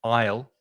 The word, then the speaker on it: aisle: And the pronunciation, if you think of the contraction of I and will together, aisle, that's exactly the same pronunciation.